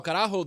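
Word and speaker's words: carajo: How do you spell it? C A R A J O. So Karaho, the original meaning for Karajo was on a old Spanish gallion boat, right?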